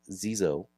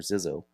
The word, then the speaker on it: XYXO: Heria Effects is announcing the XYXO, pronounced Zo or Zo.